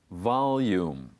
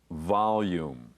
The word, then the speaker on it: volume: Volume. Volume.